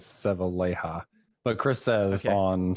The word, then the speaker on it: Sevilleja: I always want to say it like a Spanish last name with Okay. double L, so Sevilleja, but I think he says Sevilleja.